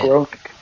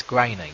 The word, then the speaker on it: Groening: That's how you say it. Groaning. It's graining. You don't say like your mama groaning. It looks like the word groaning. Except for the E.